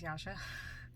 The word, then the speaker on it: Yasha: uh my name is Yasha that is how my name is pronounced um I was actually